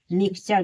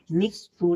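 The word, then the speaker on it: mixture: पढ़ेंगे नहीं कि फैक्टर मिक्सचर देखिए एम आई एक्स टी यू आर टी के बाद यू आर दिया है मिक्सचर यानी मिक्स टू नहीं पढ़ेंगे मिक्सचर पढ़ेंगे फिर ट्यूबल देखिए टी के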